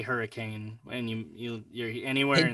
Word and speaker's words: Hurricane: Well, no, I live in Hurricane, Utah. It's not hurricane, but hurricane. You gotta pronounce it wrong for some reason.